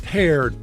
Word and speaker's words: Peared: It's paired.